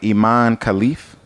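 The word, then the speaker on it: Imane Khelif: about I want to say her name right Iman khif am I saying it right yeah okay Iman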